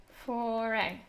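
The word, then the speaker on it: Fauré: Foray. Okay. Handel, Porpora, Massenet. Do you really not have foray on Tom Play? Get with it. It rhymes with the name of your product, people.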